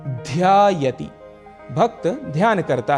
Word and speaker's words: ध्यायति: भक्तः ध्यायति, यहां पर उच्चारण का हमें विशेष ध्यान रखना है। ध अक्षर महाप्राण है, इसीलिए यहां पर ध्वनि एम्फेसिस थोड़ा अधिक होगा और कहेंगे ध्यायति, भक्त ध्यान करता है।